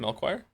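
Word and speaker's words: Melchior: Melchoir.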